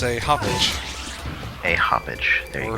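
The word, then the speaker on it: Hauppauge: It's a hoppage. A hoppage. There you Or go. a hog, or whatever you want to say. I'm gonna pronounce it the huppage.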